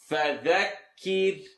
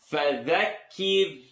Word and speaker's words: فذكر: فذكر فذكر إن نفعت الذكرى فذكر ki the ra is light, the letter before it has something on the bottom. فذكر kir.